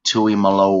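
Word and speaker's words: Tuimoloau: number 44 is JT and as it's technically pronounced it's JT Tui Malo wow what a name and do not it's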